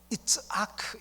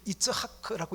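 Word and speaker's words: יצחק: 이삭, 원래는 히브리 단어로 말하면 이츠하크, 이렇게 이츠하크라고 읽는데요, 이것을 영어로 이제 아이zek이라고 발음하죠.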